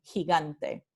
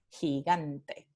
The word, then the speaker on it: gigante: por la vocal I, como en gigante. Entonces, transcripción fonémica, J y G ante. Transcripción fonética, G y G a N. Aquí tenemos la nasal dental, N, por proceso de asimilación, ¿sí? A la consonante siguiente, T, que es dental en español, gigante. Y por último, el ejemplo